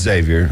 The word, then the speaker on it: Xavier: right yes sir camell one starts with an X but you pronounce it with a Z yeah it's Xavier I knew that one